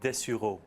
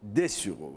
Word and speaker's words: Dessureau: Professeur de Sureau, alors c'est un très beau nom français, mais je ne sais pas comment on prononce. On dit Dessureau. Dessureau.